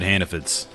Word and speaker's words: Hannaford: And you pronounce it Hannafids. F-I-D-S at the end.